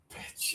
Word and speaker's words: pitch: This is p p p not b b b b b. No vibration here for b It's pitch. pitch Okay.